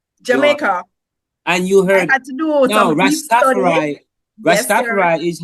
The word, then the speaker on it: Rastafari: They said it's it's Rastafari. Yes. The Jamaican pronunciation because of where it's originated. But when you go elsewhere, it's Rastafari. But let me tell you why. Let me tell you why it's not Rastafarai.